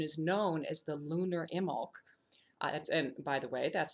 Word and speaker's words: Imbolc: In fact, this new moon is known as the lunar Imbolc. And by the way, that's spelled I-M-B-O-L-C.